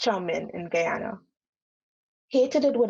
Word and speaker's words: chow mein: going to be called guyanese chow mein it's pronounced chaumin in guyana the second one is going to be called nebulary and the third one is named spam dainese chow mein pronounced chomin in guyana hated it with a passion as